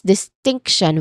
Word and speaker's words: distinction: So we say as distinction with a clear stress in the middle syllable.